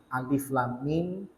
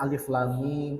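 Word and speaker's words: الم: ini disebut dengan Alquran huruf-huruf yang harus dibaca per huruf tidak boleh dibaca perkataan huruf-huruf yang tidak bisa menjadi kata karena ketika membacanya harus disebutkan satu persatu hurufnya yang para ulama berbeda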